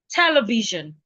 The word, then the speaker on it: television: Okay, for example, the Oxford Dictionary stresses the first syllable. Television, television. They're stressing the te.